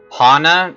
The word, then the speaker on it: Hana: Hana call me Hana Hana I mean technically it's pronounced Hannah but it is your